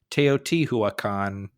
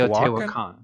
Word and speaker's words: Teotihuacan: And this is episode 58, where we are talking about building temples in an unpronounceable city, Teotihuacan. Teotihuacan? I think it's Teotihuacan.